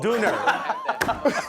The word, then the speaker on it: Döner: Isn't that Berlin Donner? Donner? Döner, no. Döner.